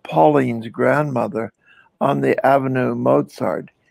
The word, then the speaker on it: Mozart: grandmother on the avenue mozart she taught me to say mozar not mozart as we pronounce it correctly i might add with